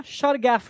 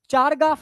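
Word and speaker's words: Chargaff: अब ये मैं आगे बताऊंगा शरगफ रूल। तो शरगफ रूल्स जो होता है वो डीएनए फॉलो करता है। आरएनए शरारगफ रूल को फॉलो नहीं करता। इसको चारगाफ रूल भी बोलते हैं लोग।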